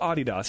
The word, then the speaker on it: Adidas: soccer it's Adidas Adidas like the British pronounce it Adidas and I love that I don't know why oh that's a real thing no yeah it's a real thing it's literally they call it adidos and the first time